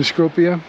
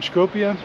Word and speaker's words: Skopje: I've asked locals, my taxi driver, my Airbnb host, and they all pronounce it differently. So I've settled on Skopje. It's kind of a hybrid of all put together. So you get the idea. It's Skopje. Your mileage may vary. Pronounce it how you like. But again, you see that it's very, very pleasant to look at.